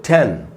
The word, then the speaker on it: ten: और अगला वर्ड है दोस्तों 10, 10, 10। तो 10 को भी तेज़ी से पढ़ना होता है, इसलिए इसके नीचे मैंने एरो का निशान लगाया। तो टीन, टिन, 10।